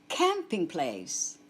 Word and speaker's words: Campingplatz: Campingplatz. Auf Deutsch der Campingplatz. Der Campingplatz. Take note of the pronunciation of the English word camping.